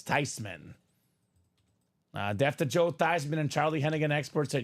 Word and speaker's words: Theismann: Well, technically, Ryan Williams, he now goes by Theismann, but his family name pronounced was Thiesman, but his grandma says it's Theismann is the proper way to say it.